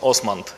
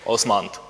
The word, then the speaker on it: OsmAnd: first the name of our application pronoun we pronounced Osment yeah during this conference I heard other variants but we say Osment okay also the head and as no okay